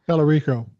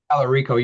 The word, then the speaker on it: Talarico: I always say his name wrong. Pelorico. Talarico.